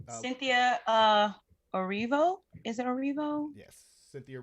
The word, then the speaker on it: Erivo: I can never pronounce her name. Cynthia Erivo? Is it Erivo? Yes, Cynthia Erivo.